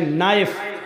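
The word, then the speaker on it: knife: line बोला नहीं जाएगा जैसे इंग्लिश में नाइफ इसको कहते चाकू को नायक के मानक चाकू लेकिन के लिखा जाता है बोला नहीं जाता वह साइलेंट रहता है कि निमानी घुटना इंग्लिश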